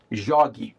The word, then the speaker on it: jogue: And then when we add the e, we have to keep the same hard G sound. In order to do that in writing, we spell that with a G U e. Jogue.